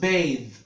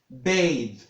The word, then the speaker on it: bathe: space for rape so that's pronounced bathe bathe so bath and bathe they are not the same so when you say